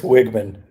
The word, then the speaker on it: Wiegman: Chris Wiegman. Wiegman. Okay, I was going to say Weigman, but sorry. Okay, so Chris Wiegman is he's the engineering manager on the Faust.js